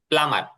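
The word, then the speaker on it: plumber: প্লাম্বার? ইজ হি a polite প্লাম্বার? সে কি প্লাম্বার। আমার প্লাম্বার? প্লাম্বার। এখানে স্যার তো বিটা বলেন, উচ্চারণে আসবে না, হ্যাঁ। প্লামার, প্লামার।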